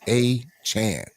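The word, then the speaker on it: Achane: achan I know was I looked it up it's achan now I want to make sure I was saying it right but uh yeah he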